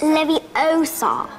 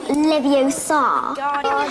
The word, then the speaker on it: Leviosa: Besides, you're saying it wrong. It's Leviosa, not Leviosa. Wingardium Leviosa.